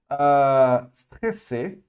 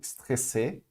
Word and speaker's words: stressé: Stressé, ok? Ou stressé. Outro caso que tem o E no final para o feminino, mas não é pronunciado.